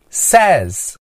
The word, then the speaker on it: says: say mais S fica S Note que a pronúncia muda quando iamos a letra s não dizemos se mas sim Says repeat Says He Says He Says He Says